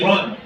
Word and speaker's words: Iran: No, it's Iran. He goes, Iran. I said, no, I'll misspell it for you.